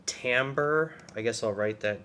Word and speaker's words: timbre: can talk about called Timbre I guess I'll write that down uh t-i-n-b-r-e pronounced Timbre um Timbre is the